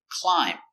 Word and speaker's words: climb: no crumbs in bed example climb remember silent be climb the boy likes